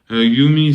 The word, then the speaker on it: Yumi: Yumi, c'est mon blaze. Ça veut dire toi et moi, avec une faute d'orthographe, mais ça se prononce comme ça.